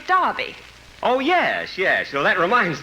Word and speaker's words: Derby: Just like here in America you say Derby, and over there we say Derby.